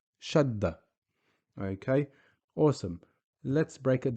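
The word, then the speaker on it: شدّة: If we look here, when we say Shaddah, you can hear the dal being pronounced twice, or the d sound being pronounced twice. Shaddah. Shaddah.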